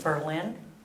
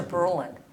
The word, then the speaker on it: Berlin: I live in Wisconsin, and we had a town, it was Berlin, they changed their name to Berlin. You just put the emphasis on a different syllable.